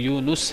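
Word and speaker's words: يونس: علیہ السلام، بعض لوگ یونس کہتے ہیں، یونس سپیلنگ لکھتے ہیں YOUNAS، NUS ہونا چاہیے، یہ یونس ہے، نون پہ پیش ہے، یونس یوسف، لوگ یوسف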